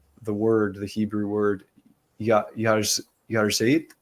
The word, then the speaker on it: Yahrzeit: And I don't know how to pronounce the word, the Hebrew word, Yarzeit. How do you say that? Yahrzeit.